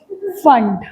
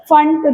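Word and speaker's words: Pfund: पी फंड अभी हमने समझा atomic sorry फंड यस P silent you know फंड raise.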